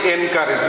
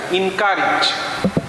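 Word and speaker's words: encourage: আমরা বলি এনকারেজ, নো, এনকারেজ না, ইনকারেজ, ইনকারেজ, ইনকারেজ, ইনকারেজ, ইনকারেজ।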